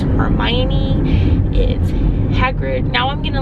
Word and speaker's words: Hagrid: perfect the only thing is the teachers been pronouncing Hagrid's name was hatred and so every time I said Hagrid there